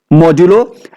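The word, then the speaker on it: modulo: The name of this operator is मॉड्यूलो, जो normally में देखने जैसा परसेंटेज का साइन है, बट इसे हम क्या प्रोनाउंस करेंगे? मॉड्यूलो।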